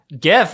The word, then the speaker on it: GIF: Is it GIF or GIF? Who cares? It's one of those. Definitely it's a GIF. Okay, I'll say GIF. Hard G.